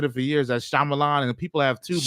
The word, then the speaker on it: Shyamalan: not I me and other people have been pronouncing it shalaman but this actually has a different pronunciation from